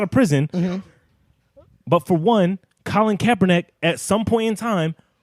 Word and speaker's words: Colin Kaepernick: Colin Kaepernick.